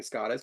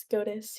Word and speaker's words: SCOTUS: No, I am not getting Scottish because I don't want that job. That job sucks. Scottish? And it's full of idiots. it's pronounced SCOTUS.